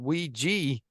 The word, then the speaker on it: Ouija: really is pronounced um According to some sources it should be called we G because the name came